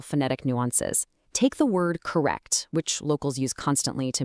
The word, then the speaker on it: correct: Take the word correct, which locals use constantly to mean okay or fine. You actually drop the hard T at the end.